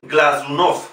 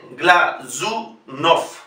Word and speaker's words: Glazunov: con el criterio latino, siempre que veamos una Z, la pronunciación es del fonema Z, Glazunov. Glazunov es una palabra aguda y por lo tanto la O que lleva la símbola tónica la vamos a pronunciar como O.